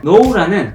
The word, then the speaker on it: know: grow, grew, grown 류의 동사 변화에서 우리는 앞에 자음 2개의 W로 끝나는 동사류는 이렇게 변형시킨다는 것을 규칙으로 세웠습니다만은 know라는 K가 묵음이라 자음 1개인 동사의 fake에 속았다는 것을 알아챈다 해도 그냥 원래대로 knew, known이라는 불규칙 동사 활용을 할 뿐입니다.